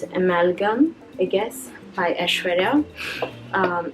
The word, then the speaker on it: amalgam: do you pronounce it it's like an amalgamation it's from that word amalgamation so it's amalgam I guess by ashara